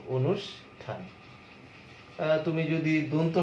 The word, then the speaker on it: অনুষ্ঠান: যদি তুমি মূর্ধন্য স দিয়ে একটা শব্দ দেখো, যেমন অনুষ্ঠান, অনুষ্ঠান মূর্ধন্য স, কিন্তু উচ্চারণে তালবস্য দিয়ে উচ্চারণ করব, অনুষ্ঠান।